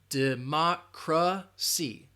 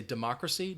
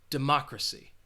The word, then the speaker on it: democracy: have a democracy now notice that schwa in that third syllable democracy democracy personally I think